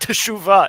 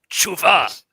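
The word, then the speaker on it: תשובה: It's not teshuva, it's tshuva. Yes.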